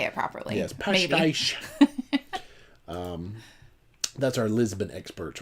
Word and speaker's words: Pastéis: Pastéis.